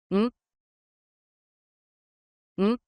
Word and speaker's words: ん: ん、ん、 The pronunciation of special character N is simply N in English.